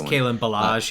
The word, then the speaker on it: Kalen Ballage: I can't pronounce his name. It's Kalen Ballage, yeah.